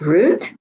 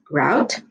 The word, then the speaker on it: route: at a vocabulary word it says root or it could also be pronounced route it's a way taken